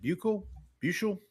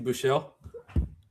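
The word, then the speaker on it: Buchele: Terms of players, we've got Kyle Allen, your guy Shane, uh, is I always get this name wrong. Is it Ble Bell? Uh, Steve Buchelle.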